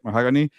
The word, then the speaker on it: Mahogany: It's like a color, right? Mahogany.